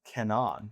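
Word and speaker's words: Cannon: And at that point they were pronounced Kenan. Kenan.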